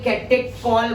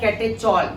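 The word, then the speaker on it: catechol: दिया तो ध्यान दो, ये कैटेकॉल बोलते हैं इसको, कैटेकॉल। बट इसको मैं प्यार से क्या बोल रहा हूँ, कैटेचॉल। क्या बोलूंगा, कैटेचॉल। ये है कैटेकॉल, राइट। इसको क्या प्रोनाउंसिएट करेंगे, कैटेकॉल। बट इसको मैंने बोल दिया कैटेचॉल। क्या बोल दिया मैंने, कैटेचॉल।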